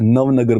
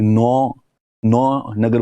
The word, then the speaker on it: नवनगर: तो दिल्ली के प्रोनाउंसिएशन में इसको उस जमाने के अंदर नवनगर बोलते थे या फिर नौ नगर बोलते थे।